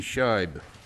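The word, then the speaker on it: Scheub: S-C-H-E-U-B, Scheib.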